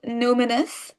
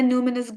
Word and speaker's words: numinous: So, it's called numinous. It's spelled n u m i n o u s.